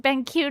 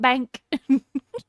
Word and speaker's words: BenQ: It's pronounced BenQ, not bank.